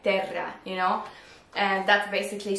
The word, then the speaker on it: Terra: people mispronounce it and you are supposed to say it like it is like terra you know and that's